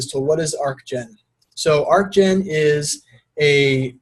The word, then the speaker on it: Archgen: everybody and thanks for coming out to this Archon workshop the first point of business here is the pronunciation it's arc gen it's a hard cut it's not arch that's